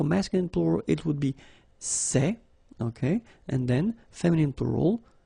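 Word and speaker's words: ces: and it's say okay remember open Say Say Say Okay one example s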